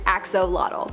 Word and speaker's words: axolotl: most part, most people believe that it is axolotl.